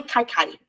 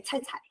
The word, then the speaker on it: Cai Cai: Letra C, a gente fala, tem que soprar. Então, ele, consoante com qualquer vogal, ele nunca pronunciar Ka. Por isso não é Kai Kai, é Cai Cai.